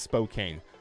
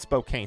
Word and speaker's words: Spokane: guys talking about over there is how you pronounce Spokane spook and but Spokane Spokane okay well I'll give you guys that